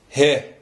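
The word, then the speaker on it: ه: He. Der 26. Buchstabe ist das He, das schwach gesprochene H. Ausgesprochen wird es als H.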